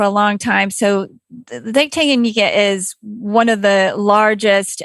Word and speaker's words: Tanganyika: It's Lake, tell me on its pronunciation, Tanganyika? Yes, Tanganyika. Tanganyika.